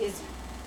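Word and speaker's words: Izze: The name of the type of blackberry drink was called Blackberry Izzy, spelled I-Z-Z-E. Oh, that's a weird way to but spell that. pronounced Izzy.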